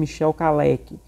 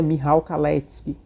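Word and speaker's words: Michał Kalecki: econômica do economista polonismo Michel caleck que na verdade a pronúncia correta é mirrao kallete mas enfim isso é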